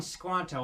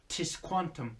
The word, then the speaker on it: Tisquantum: Well, I call him Squanto as that's what he's famously known for, though the pronunciation of his name in his Native American tongue was Tisquantum.